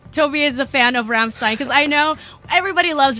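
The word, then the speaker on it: Rammstein: is from Ramin dast it's Ramstein that's how you should say it yeah no okay now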